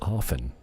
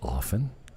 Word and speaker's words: often: is a silent tea it's often I don't say often I say often it's a silent te and I still say